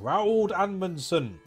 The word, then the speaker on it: Roald Amundsen: correos expedition arctic expanse DLC with my homeboy Rowell Dan Monson I feel real estate okay the expedition now